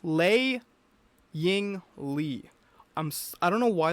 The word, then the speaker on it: Lei Ying Lee: I want to say Lee, but it's Lei Ying Lee.